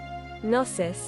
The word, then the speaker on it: gnosis: pronunciation nsis oh is I mean I figured the G was silent I don't know gnosis does